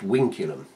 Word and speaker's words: vinculum: it's a Latin word uh spelled vinculum but pronounced winum and in weic maths it is used as